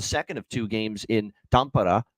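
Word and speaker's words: Tampere: of two games in tampara as it's pronounced over in Finland between Dallas and Florida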